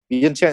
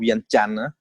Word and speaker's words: Vientiane: Or Vientiane is how Mika pronounce it, but the really pronunciation is called Vientiane.